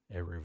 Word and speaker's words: Erivo: Erivo.